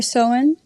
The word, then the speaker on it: Samhain: It's actually, as you can see, it's called Samhain or Soin. There's different pronunciations, to be honest.